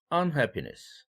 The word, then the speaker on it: unhappiness: unhappiness 이렇게 on에다가 힘줄 때에는 happiness와 대비할 때입니다.